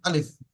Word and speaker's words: আলিফ: যেমন আলিফ, স্পিড আলিফ, আলিফ।